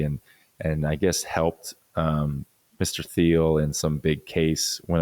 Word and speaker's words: Thiel: But there's something that is in the works from this guy named Peter Thiel.